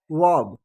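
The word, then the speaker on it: verb: और जिसे भर्ब कुछ लोग बोलते हैं, वो भर्ब नहीं, उसको वर्ब, भी को व का प्रोनाउंस करेंगे और आर से पहले अ का, आर से पहले आर को प्रोनाउंस ना करते हुए और फिर ब का उच्चारण करेंगे, अर्थात वर्ब।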